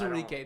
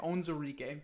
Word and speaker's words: Onwuzurike: That's how I've heard it pronounced. Onwuzurike. That's what it is. I have it spelled wrong here. I did it with a W instead of a Z. Okay, Onwuzurike makes way more sense.